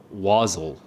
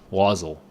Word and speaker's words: wassail: Wazzle. Wassail. Okay. He wazzles. Wassail. There's two pronunciations here.